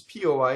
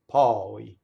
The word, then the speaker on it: poi: And then the word for then, which looks like it rhymes, is P-O-I, and now it's open, poi. So, noi, voi, poi. So those three words do not rhyme.